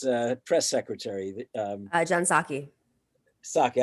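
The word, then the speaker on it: Psaki: press secretary uh john saki saki i always make a mistake in how to pronounce it there's a p at the beginning i think yeah she's greek anyhow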